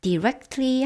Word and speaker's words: directly: directly 할 때요. t는 발음해도 되고 지금 여기에서 우리가 들었던 것처럼 발음을 안 해도 됩니다.